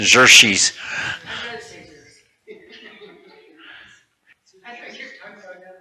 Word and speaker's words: Xerxes: How do you pronounce Xerxes? Xerxes? Jersey? Yeah, like a ZH. Xerxes.